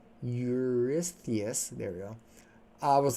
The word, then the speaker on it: Eurystheus: Eurystheus, there we go.